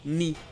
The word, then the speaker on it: knee: Le "k" est silencieux donc ça se prononce juste "n" comme dans "know" "knight" ou encore "knee".